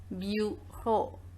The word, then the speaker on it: bureau: And the last example we are having is bureau, because the sound of eau is o. So we are pronouncing this word as bureau.